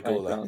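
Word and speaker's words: Güler: How you pronounce it, or Grula? Oh, the Gula, yeah.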